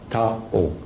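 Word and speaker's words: Thao: T-H-A-O, Tao. That's her name. You can pronounce whatever you want, but I pronounce it Tao.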